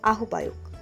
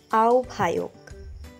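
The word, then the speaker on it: আহ্বায়ক: আহবায়ক অনেকেই উচ্চারণ করে থাকেন আহবায়ক। সঠিক উচ্চারণ আওভায়ক।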